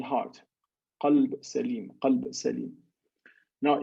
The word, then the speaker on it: قلب: قلب سليم, قلب سليم. Now, if you mispronounce that qaf, the letter qaf that you see here, and you substitute for it the letter kaf, the change of meaning is radically different.